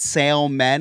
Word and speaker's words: salmon: And is it salman like me nen? Here in the south sometimes they pronounce the l.